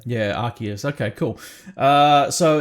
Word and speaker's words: Arceus: legends rks is that is that how you pronounce it um i say arceus yeah um yeah yeah i think there's a few different pronunciations going around but that's personally what i say yeah arceus okay cool